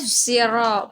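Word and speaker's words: الصراط: Yaitu diistilahkan atau ditebalkan, yaitu membacanya bukan si tapi zi. Ihdinas ziro, bukan ihdinas siro atau syiro, tapi ihdinas ziro.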